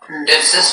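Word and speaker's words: dipsas: There is just the one, dipsis.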